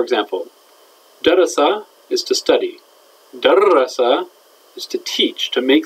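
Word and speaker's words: دَرَّسَ: In the past tense, it's darrasa.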